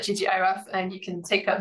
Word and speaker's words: ggiraf: the ggiraf package, or the logo makes me think that maybe it should be pronounced giraffe. People pronounce it in different ways, but there's also a function inside it that is ggiraf giraffe. So who knows? I'm going to call it ggiraf, and you can take